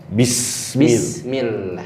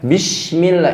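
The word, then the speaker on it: بسم الله: Mestinya pakai sin kan? Iya. Gimana bacanya? Bismillah. Bismillah. Bismillah. Bismillah. Artinya dengan menyebut Nama Allah. Kalau kita baca dengan shin besar, Bismillah. Ini ada yang saya dapetin tuh pakai shin. ada. Bismillah. Nggak ada makna.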